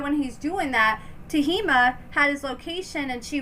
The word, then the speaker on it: Tehmeena: It's Tehmeena, not Tehmeena or whatever, however I was saying it.